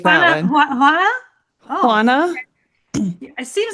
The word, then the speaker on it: Juana: makes me sound so bad like I can't learn it's a very difficult but Hana and Juan are the most probably one of